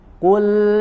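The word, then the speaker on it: قُلْ: Kul, ya, kemudian huruf lam sukunnya tipis, ya. Kul, huruf lamnya tidak menjadi tebal seperti huruf qaf. Jangan kul, tapi huruf lamnya tipiskan, ya.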